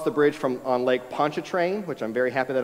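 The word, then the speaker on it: Pontchartrain: bridge from on Lake Poncha train which I'm very happy that I learned how to pronounce that my Louisiana in-laws were very proud that I could pronounce Lake Poncha train uh but they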